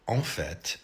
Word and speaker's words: en fait: So en fait, en fait, is in fact or actually.